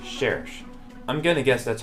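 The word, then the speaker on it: Cherche: a little research and apparently her name is French so I literally looked up the word in French and I get it's pronounced cherish I'm gonna guess that's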